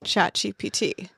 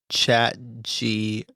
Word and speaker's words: ChatGPT: Am I saying it right? ChatGPT? Yes. What did it sound like I said? I think I was saying ChatGPT. Oh. It's P. Yeah, it's P.